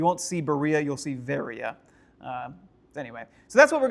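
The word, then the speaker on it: Βέροια: Uh in the city of Berea it's not Berea it's varia. uh because B and V sounds are very very similar and in modern Greece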